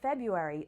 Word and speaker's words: February: e library library library the month of February looks similar but a lot of people actually do not pronounce the R after the B instead we say something